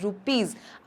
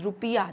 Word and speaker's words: Rupiah: हमारे यहाँ जो रुपीस बोला जाता है दैट इज रुपीज, RUPEES, लेकिन वहाँ की जो करेंसी है इट इज रुपया, दैट इज RUPIAH.